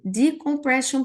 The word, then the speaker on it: decompression: Aqui o final, a gente não vai pronunciar sion, a gente pronuncia shan.